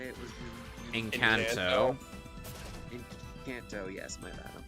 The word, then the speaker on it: Encanto: They can release a great film like Enchantico, I think that's how you say it, was really Encanto.